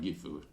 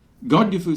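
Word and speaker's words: Godgifu: the way I'll say I use the old English uh spelling and pronunciation of Godiva so uh it's got gifu God dufu slumped to her knees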